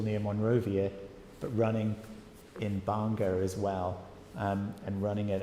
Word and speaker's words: Banga: So there's a group of Liberian churches up in a place called Banga, which you can see there. It's kind of pronounced similar to Bangor, but it's obviously a slightly different vibe.